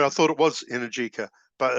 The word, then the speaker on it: Energica: Energica. They're Italian. That's how you say it.